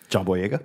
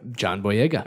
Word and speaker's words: John Boyega: John Boyega. John Boyega.